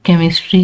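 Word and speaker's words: chemistry: इसी तरह सी और एच की जगह आपने के प्रोनाउंस करना है। ग्रीक बेस्ड वर्ड है ये। यानी कि सीएच लिखते हैं लेकिन इसको इंग्लिश प्रोनाउंसिएशन में इसको के प्रोनाउंस किया जाता है। जैसे स्कूल में ये सीएच को के प्रोनाउंस किया जाता है। ठीक है? केमिस्ट्री है तो इसमें के प्रोनाउंस हो रहा है।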